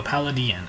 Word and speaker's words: Palladion: out of a cybernetic horizon this is a pallid Dhoni and I think that's how you pronounce it Pal Jim no paladin I'm sorry it's a new archetype coming out